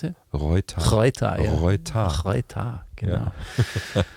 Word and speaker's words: Reuter: How do you pronounce it? Reuter. Reuter, ja.